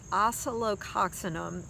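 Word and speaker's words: Oscillococcinum: stuff it's called it's a homeopathic and it's pronounced Asolo Coxon 'm it's a crazy long name but it really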